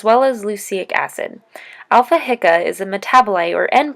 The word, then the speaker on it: HICA: Alpha hydroxy isocaproic acid most people will hear in the shorter version of its name pronounced Alpha hia as well as Lucic acid Alpha hika is a metaboli or